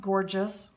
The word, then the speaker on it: Gorjuss: It's pronounced gorgeous, or but it's not spelled that way.